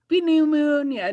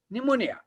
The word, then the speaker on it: pneumonia: pneumonia yes pneumonia right pineal moon no we do not pronounce in that way pneumonia so look and third